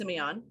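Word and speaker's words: Sémillon: I believe it's pronounced Semillon. Semillon, exactly.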